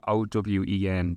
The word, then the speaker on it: Eoin: in Irish, so you know the name Owen, that's Owen, that's the actual original. Sure. My name, Eoin, is the original spelling, but when the English invaded, they made us all spell our name phonetically.